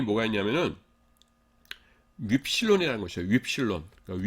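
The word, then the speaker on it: upsilon: 윕실론. 그러니까 위 발음 나는 건데 윕실론이라는 게 있거든요.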